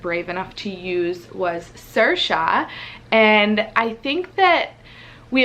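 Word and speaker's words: Saoirse: we also know that Sercha is an Irish name, and the way it's spelled, it's just out of this world confusing. Like, I don't think anybody would actually really get it in America, but I thought, like, why can't we just spell it phonetically? Why can't we just spell Sercha, S-E-R-C-H-A, Sercha, like, or S-E-R-S-H-A, Sercha.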